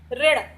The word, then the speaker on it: ऋण: री की मात्रा का उच्चारण भी किसकी तरह होता है? र की तरह होता है। जैसे ये लिखा हुआ है ऋण, तो इसे रण नहीं पढ़ेंगे, इसे क्या पढ़ेंगे? ऋण।